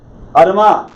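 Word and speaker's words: אדמה: Adama.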